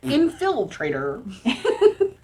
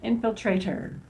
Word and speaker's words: Infiltrator: Infiltrator. Put the emphasis on the wrong spot, okay? Infiltrator.